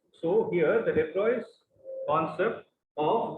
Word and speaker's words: de Broglie: The last concept of this chapter, which is pronounced it as the de Broglie.